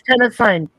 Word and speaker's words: tennessine: tennessine or tennessine. I'm not sure how you pronounce it. It's spelled like Tennessee, only it's Tennessine, and it's element 117.